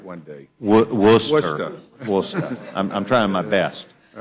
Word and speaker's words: Worcester: Gentleman from Worcester, Massachusetts is recognized. We'll get you to pronounce that right one day. Worcester.